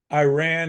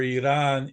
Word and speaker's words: Iran: So that's why we pronounce countries like Iran and Iraq improperly. Their real names are Iran and Iraq.